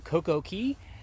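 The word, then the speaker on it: CocoCay: uh two days at coco key or coco k that's how they say it a day in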